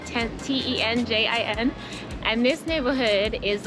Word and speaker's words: Tenjin: We've made our way into the neighborhood that I think is pronounced Tenzin, like Tenjin.